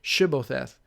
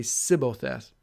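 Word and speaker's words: Shibboleth: When he would say no, they said to him, "Then say Shibbotheth." And he would say Sibbotheth, or he could not pronounce it right.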